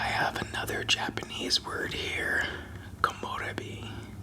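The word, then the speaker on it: komorebi: Komorbi. Kamori.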